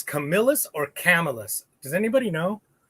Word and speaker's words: Camillus: camillus at any rate it's not camillus it's camillus hey hey marcos or camillus